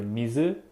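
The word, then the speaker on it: 水: would be pronounced either mizu or sweet the way you pronounce the kanji character depends on the word for example this character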